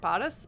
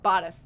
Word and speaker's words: bodice: body how do you say that body it bought us bodice that's how you say it bought us ripping